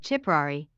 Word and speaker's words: Ciprari: in rey marriage of chiprary i am katherine kirkland if you are hearing a ch sound at the beginning of the pronunciation of chipperary that is the correct